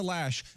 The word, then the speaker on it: Loesch: lower lash it / it's actually pronounced lash but it's spelled Loesch yeah so I I